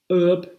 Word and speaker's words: herb: that last week right in words such as our or herb the h is written but not pronounced um and so